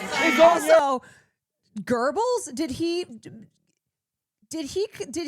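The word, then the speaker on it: Goebbels: Yeah, but nobody in the American public pronounces that girl. Like there's something to be said about him saying it in a way that's closer to the German pronunciation.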